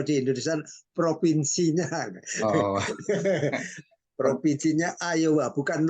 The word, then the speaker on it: Iowa: Oh, Provinsinya Iowa, bukan Iowa. Kadang-kadang ketikan itu kan seperti L gitu, padahal itu I. I itu mm-mm.